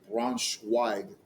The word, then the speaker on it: Braunschweig: And then Ingolstadt, Karlsruhe, and Braunschweig. That's how you pronounce it.